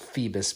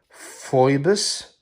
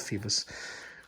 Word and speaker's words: Phoibos: out the first phoebus I really think it's pronounced Phoebus because if you gotta read it right off it would say fibers but I've seen other guys call them Phoebus in their reviews and I really think